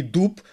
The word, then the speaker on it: дуб: в кінці оглушуються вони а в українській мові дзвінки вимовляються дзвінку оглушення не відбувається тому і Дуб і губ відповідно має в кінці слова цей звук виразно звучати Так Так А щодо